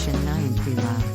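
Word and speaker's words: 新年快乐: The Chinese expression for Happy New Year is Zinian Kyle, which is pronounced as Shen Nian Kui Lao.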